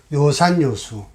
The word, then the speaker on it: 요산요수: 이거는 뭐라고 읽어야 되냐면 요로 읽어야 돼요. 요산요수.